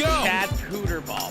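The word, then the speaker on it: Hooterball: His name is pronounced Chad Hooter ball.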